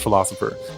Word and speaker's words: Philocypher: see why PhD are it looks like filo cipher but it's pronounced philosopher the big thing for